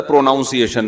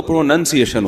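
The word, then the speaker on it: pronunciation: تو ہمارے استاذ نے بتایا تھا پروناؤنسیشن نا, تو کسی نے بتایا پروناؤن تو ٹھیک ہے, پروناؤنسیشن جب ہوگا تو پروننسیشن ہوتا ہے.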